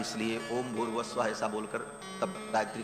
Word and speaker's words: भूर्भुवः स्वः: तीनों को जब एक साथ उच्चारण किया जाता है तो ओम भूर्भुवः स्वः ऐसा हो जाता है। विसर्ग को र हो करके और फिर वो र ऊपर चला जाता है तो भूर्भुवः स्वः ऐसा उच्चारण होता है।